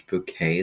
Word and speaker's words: Bucket: to pronounce her name it's not bucket it's bouquet that's how she likes to say it and I'm sure that